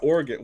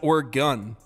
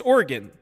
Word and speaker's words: Oregon: Nicks Kings Michigan State so if it's not organ why isn't it o RG bro I didn't